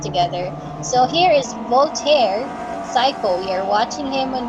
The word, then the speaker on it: Sayco: And his last name is spelled as Sayco if you're just hearing this right now. We're not calling him a psycho. His name is Voltaire Psycho, okay?